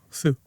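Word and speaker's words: Hsu: H SSU. Oh, Sue.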